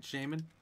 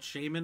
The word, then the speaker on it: Shaymin: y m i n shea like the butter i'm probably probably not correct and min like minute i don't know yeah